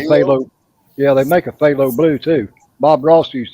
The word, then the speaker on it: phthalo: about that paint that you had that is pronounced phthalo blue or green they make it they look yeah they make a phthalo blue too Bob Ross used to use it